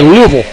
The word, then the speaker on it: Louisville: They don't say Louisville, they say Louisville.